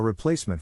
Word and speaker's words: replacement: is in this case the accent is in the second syllable corresponding to please below